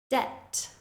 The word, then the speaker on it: debt: Debt, debt. Doubt, doubt. In these words, you should just imagine that the B is not there at all, and that will help you to say the word more correctly.